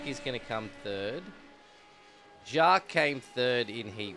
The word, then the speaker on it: Jacques: Jacques. That's how it's pronounced.